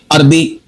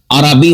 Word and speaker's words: عربی: کو درست کریں گے۔ لفظ ہے عربی، ہم کہہ دیتے ہیں عربی، عربی تو نہیں ہوتا، عربی ہوتا ہے۔ لفظ ہے لفظ، ہم